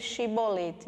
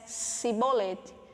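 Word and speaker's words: shibboleth: o que quer dizer chibolete né a prova simples só queria dizer espiga de milho mas eles falavam em outra forma com s cebolete eles não conseguiam falar da mesma forma que é jefter pronunciava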